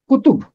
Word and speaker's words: کتب: فہرست کتب و صحائف۔ کتب جمع ہے کتاب کی، پہلے حرف پر بھی پیش ہے، تے پہ بھی پیش ہے، اور اسے پڑھیں گے کتب۔ کتب کتاب کی جمع،